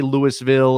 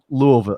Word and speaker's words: Louisville: a couple times like yeah you can't say louisville or it's louisville it's not louisville it's louisville that's right is